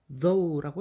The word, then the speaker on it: though: 그래서 the 하다가 GH는 소리가 안 납니다. 그래서 though라고 읽으시면 됩니다.